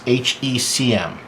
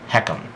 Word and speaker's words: HECM: Now, again, starting under the annual column, right below that you'll see this HECM.